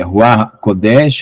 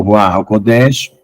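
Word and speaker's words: רוח הקודש: Com a pronúncia correta. Yaakov, né? Jó, e assim por diante. Espírito Santo, né? Ruach Kodesh, ou Ruach HaKodesh.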